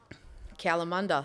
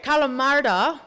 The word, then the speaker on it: Kalamunda: Say it with an Aussie accent. Kalamunda, that's right. So who's been to Kalamunda? There it is. So Kalamardha, which is how it's pronounced originally, obviously turned into Kalamunda.